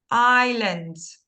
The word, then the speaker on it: islands: surroundings or icelands okay I see not Iceland's I Island s yes very good Islands okay Islands so again sorry just one